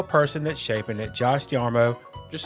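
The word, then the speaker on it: D'Amaro: So this feels like a big moment in Disney history with Josh Darmo. I'm not going to say his name. Josh D'Armo. D'Armo. D'Armo. Tomorrow. D'Armo. D'Armo. With Josh Darmo. D'Armo. It's like tomorrow.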